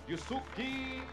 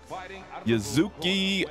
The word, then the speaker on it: Yuzuki: From the Nishikawa gym, welcome Yusuke Oda. Yuzuki Oda. I said Yusuke because that's what it looked like to me. Yuzuki, though, is how you pronounce.